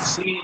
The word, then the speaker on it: sin: Although Shen is pronounced with a sh as in shape and sin is pronounced as S as in sun.